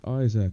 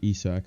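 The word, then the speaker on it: Isak: um but yeah best Isaac replacement so or esac however you want to pronounce it best e-sac replacement um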